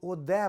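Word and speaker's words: אודה: اس کو اودے پڑھنا ہے کیونکہ دالت کے نیچے سیگول ہے, 3 نقطوں والا سیگول ہے.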